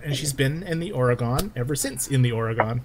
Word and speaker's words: Oregon: second no oh no i'm not saying for a gun i can't see it she's do she's giving you a uh pronunciation oregon okay good um they love living